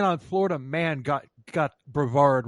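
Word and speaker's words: Brevard: even Florida man on Florida man got got bravard wrong they called it brever really yeah dude how can they call themselves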